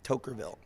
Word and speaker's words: Toquerville: It's spelled Toquerville, Tokerville.